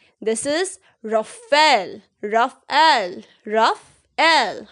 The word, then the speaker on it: Rafale: बहुत लोग इसे गलत प्रोनाउंस करते हैं। People say it as Rafale, but this is incorrect. This is not Rafale. This is Rafale, Rafale, Rafale.